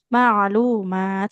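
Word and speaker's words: معلومات: Nah, di sini ada panjang pendeknya yang keliru. Maklumat. Nah, fathahnya ketemu alif kecil berarti harus panjang.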